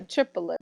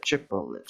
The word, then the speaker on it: triplet: yeah it's essentially a triplet it's actually pronounced triplet it's supposed to be two syllables but in order to more efficient with counting you say triple a triple it should put a triplet